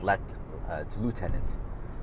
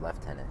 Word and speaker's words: lieutenant: Ontario, and he's like, it's lieutenant, and this is like, well, no, in Canada it's pronounced lieutenant, right? Yeah, I get it. We didn't make the language up. I'm just saying this is how it's pronounced, right?